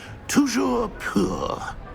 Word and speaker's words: Toujours pur: And, of course, as Master knows, in French.